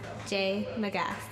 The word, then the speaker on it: J. Magas: It's pronounced J. Magas.